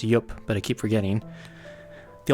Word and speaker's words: IUP: Sorry, I've been told it's pronounced IUP, but I keep forgetting.